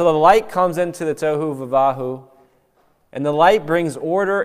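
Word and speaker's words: תֹהוּ וָבֹהוּ: actually this word called tohu vavahu. It's say that five times fast. Tohu vavahu. Tohu vavahu is how you say it.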